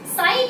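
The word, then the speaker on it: psi: साई क्या है, जो यहाँ पे ये ऐसे ये बना हुआ है, इसे हम साई बोलते हैं, पीस में साइलेंट होता है, इसे क्या बोलते हैं, वेव फंक्शन बोलते हैं।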